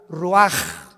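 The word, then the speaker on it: רוּחַ: Se pronuncia la ch en hebreo como J. Roaj, se le halló y se traduce espíritu.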